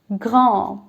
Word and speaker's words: grand: Grand is written the same way, but how will you pronounce it? Grand, grand.